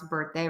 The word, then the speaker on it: birthday: are going to pronounce birthday words or would that be ba the IR is not an i it's just an ER Burr stick that tongue out birth you can see I